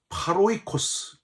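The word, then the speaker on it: πάροικος: 1절 시작할 때도 나그네라는 단어로 시작을 했는데 헬라어로 파로이 그스 이렇게 발음을 합니다 한 나라의 국적을 가지고 있고 타양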